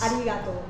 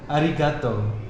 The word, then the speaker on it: arigato: Arigato. Arigato. Arigato. And thank you very much. Thank you very much. Arigato gozaimasu. Yeah, I heard people saying arigato gozaimasu? Go. Go. Like with a G. G. Ah, arigato gozaimasu.